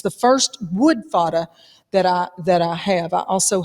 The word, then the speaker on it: FADA: Dad, Andy, here's how's it pronounced? F-A-D-A?